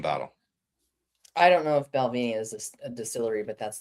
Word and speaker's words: Balvenie: It's probably not that at all, but I just wanted to say Balvenie. It is a fun word to say. And you even pronounced it correctly.